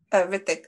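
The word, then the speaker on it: Hrithik: So do you not pronounce the H at the beginning? Rithik. I just say Rithik.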